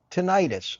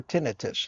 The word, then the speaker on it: tinnitus: It's like having tinnitus or tinnitus, however you choose to pronounce it, a ringing in your ears.